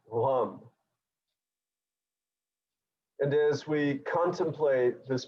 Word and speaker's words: Lam: of 3 twice, of the syllable Lam, which is a gentle movement of the lips, sort of a cross between a V and a W.